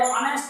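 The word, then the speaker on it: honest: क्यों, इसका उच्चारण करके देखो, इसके अंदर H साइलेंट है और ये ऑनेस्ट बोलते हैं, इसको क्या बोलते हैं, ऑनेस्ट बोलते हैं, इसलिए यहाँ L लगेगा।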